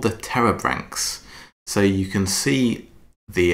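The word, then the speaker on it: Pterobranchs: tree on the right so it's got a silent P at the beginning uh blame the ancient Greeks that one but the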